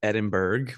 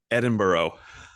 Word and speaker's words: Edinburgh: Yeah, I'm going to Scotland and it looks like Edinburgh, but that's like the Americanized. It looks like it's spelled that way, but it's actually Edinburgh.